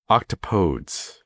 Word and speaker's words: octopodes: So technically, the appropriate, if you were going to take the Greek pronunciation of the word or the Greek origin of the word and make it plural, I have to look at this, octopodes.